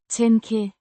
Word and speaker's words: tænke: Pronounced. ten-keh, With a soft k, sound.